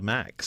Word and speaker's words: MAEX: arts and entertainment experience how do you say it the m-a-e-x do you say it we'd call it the max okay yeah okay that's